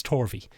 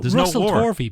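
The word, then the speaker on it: Tovey: I'm not sure no he's English it's it's torvi um it's not tvi Ben what there's no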